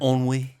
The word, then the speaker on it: ennui: Ennui.